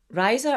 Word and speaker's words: RISA: We call it RISA just because it means laughter in Spanish.